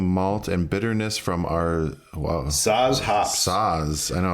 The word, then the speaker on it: Saaz: Flavor balances sweetness from the triple something malt and bitterness from our Saaz hops.